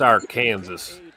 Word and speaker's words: Arkansas: It's pronounced Arkansas.